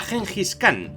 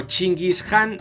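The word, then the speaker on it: Chinggis Khan: imperio mongol ese era gengis khan o chingis jan en la versión original pero la pronunciación castellana mola más css es para entender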